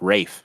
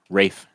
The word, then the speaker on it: Ralph: you pronounce that yeah you pronounce it Rafe it's even though it's spelled Ralph what yeah stop raining I'm not kidding Rafe yeah right the guy